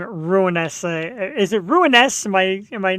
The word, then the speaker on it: Ruiness: Ruiness.